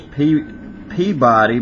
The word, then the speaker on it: Peabody: Of course, it says Peabody, but I know there in Massachusetts they pronounce it Peabody, which I thought was strange.